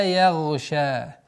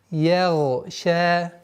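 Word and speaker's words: يَغْشَىٰ: Обратите внимание, гай у нас твердый звук, я. Одна из самых распространенных ошибок, когда звук я мы произносится я, ягша. Так как гай твердый звук, она поглощает мягкость звука я и получается я, ягша, что является ошибкой. И поэтому я отдельно, отдельно. Ягша, как бы на подъем.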